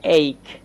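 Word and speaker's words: ache: তো এখানে সিএইচ এ কিন্তু ক উচ্চারণ হচ্ছে, এ সিএইচ, আর ইটা আমরা কিন্তু এখানে মিউট রেখেছি। তো এটা একত্রে উচ্চারণ দিচ্ছে এইক।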